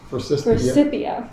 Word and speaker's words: Forsythia: I think this bush, I'm not sure I know how to pronounce it, Forsythia. Forsythia.